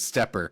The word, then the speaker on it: SteppIR: They do have a couple videos up on their website with a very nice representative, and he refers to it as SteppIR.